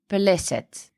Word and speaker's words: Peleset: And the word is pronounced as Peleset, and it was used to refer to the people in the southern Levant.